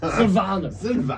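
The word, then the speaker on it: Silvaner: It's And how do probably you spell pronounced much harsher. Yeah, Sylvaner.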